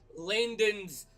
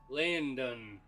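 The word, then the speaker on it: Laindon: spell that for me La I l a i n d o n Landon but I say Landon so you know uh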